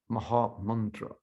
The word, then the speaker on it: Maha Mantra: And when you can tell people, my name is Maha, well, you have to pronounce it properly. It's a proper pronunciation. It's Maha Mantra.